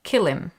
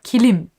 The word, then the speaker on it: kilim: talk about is uh persian kilim or kilim as i was told is the correct way to say it um so